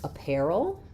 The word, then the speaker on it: apparel: So, in apparel, our stress is on the pair syllable and letters a r here say the air dip thong like in pair like a pair of shoes.